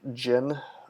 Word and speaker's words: Djinn: door you're thinking of Djinn - Ginny or whatever I think the D is silent but yeah those are coming